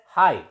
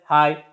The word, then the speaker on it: high: You know it is pronounced as high. GH is silent. It is pronounced as high, H-I.